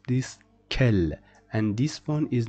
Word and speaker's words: quel: This O at the end is not pronounced, and we pronounce this kel. Why we don't say it kul?